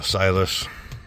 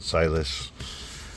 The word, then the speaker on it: Siless: But until then, that's the silus for those pronounce it. It's kind of meant to be like silent, but silus.